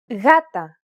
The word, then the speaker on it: γάτα: When it precedes an A, O, or U, however, it's pronounced like a loosely held G sound. Γάτα, γόβα, γούνα.